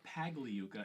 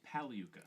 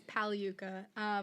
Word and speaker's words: Pagliuca: the podcast started, but the G in your last name is silent. It's not Pagliuca, it's Paliuka. Unbelievable. Nope, it is Paliuka.